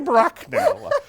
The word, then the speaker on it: Bracknell: Yeah, Lady Bracknell.